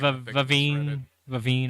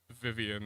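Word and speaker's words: Vivienne: Okay, that is not how I read that name. Vivine or Vivine, yeah. I thought it was Vivian. I was like, that's a really weird way to spell that name, but Yeah, sure. Vivine. Yeah. Yeah, because there's no extra I for the Yeah. Vian, so it's Vivine.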